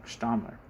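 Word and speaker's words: Stammler: Jesus Christ, I was saying his name wrong. Stalmer.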